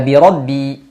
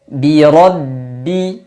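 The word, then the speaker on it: بِرَبِّ: yang kasrah di sini Bi mesti disempurnakan caranya dengan agak senyum sedikit Bi Bi Kemudian bertemu dengan ro hati-hati Biasanya karena mulut kita akan mempersiapkan pengucapan huruf ro yang tebal biasanya ba yang kasrah ini menjadi miring birbi bir harusnya tetap dipertahankan kesempurnaan harakat kasrahnya Bi birbi huruf ro tebalkan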